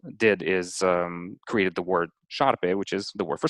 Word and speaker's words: șarpe: in Romanian, what that did is created the word șarpe, which is the word for snake. And it uses that S with the tail at the bottom.